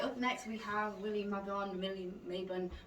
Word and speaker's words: Mabon: We don't quite know how to say I it. think it's called Mabon. Mabon, all right. I used to work with a lady called Mabon, and it was spelled like that.